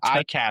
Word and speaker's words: ICAHT: just for the audience if you want to pronounce it correctly imagine a cat holding an iPhone you know that that's the IAT that's the way to do it.